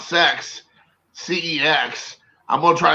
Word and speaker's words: CeX: i mean i mean i would have to say you pronounce it sex i mean what are you gonna say kecks i don't know so